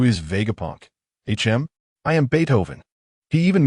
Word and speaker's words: Beethoven: His name was Beethoven, not Beto, haha.